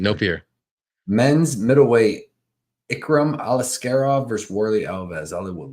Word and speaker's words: Aliskerov: Aliskerov.